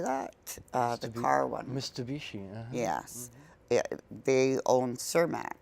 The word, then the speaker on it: Mitsubishi: Mitsubishi.